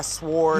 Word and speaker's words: sword: I would get like a samurai sword. You really pronounce that W in a sword.